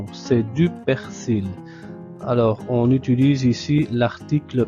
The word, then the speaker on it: persil: Ici, le L final se prononce, c'est du persil.